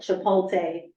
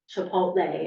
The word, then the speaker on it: Chipotle: compete um as we look um at how chipot Chipotle everybody you saying and say it wrong is